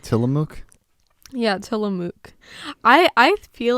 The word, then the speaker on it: Tillamook: Am I pronouncing that right? Tillamook? Yeah, Tillamook.